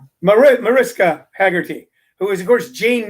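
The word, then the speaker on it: Mariska Hargitay: She goes on about, and I always pronounce her name wrong. Is it Margista Haggerty, Cheryl? Mariska Haggerty, who is, of course,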